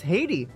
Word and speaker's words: Haiti: Oh, it's Haiti. That's how you say her name, not Heidi. It's Haiti.